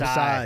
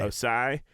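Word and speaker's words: Ossai: I felt terrible for the Joseph Oasis. Is that No, how you say it? Osai. Osai.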